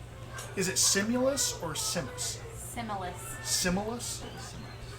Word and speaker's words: Simulus: Simulus. Simulus. Sinus. Is it Simulus or Simus? Simulus.